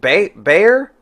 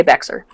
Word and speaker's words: Bexar: So Bear County is the county that San Antonio sits in. And it comes from General Behar. Okay. So it's the colloquialization becomes Bear. Gotcha. So Bear people in County, San Antonio know how to pronounce your theater. People in San Antonio know how to pronounce it. People anywhere outside of San Antonio say Bexar.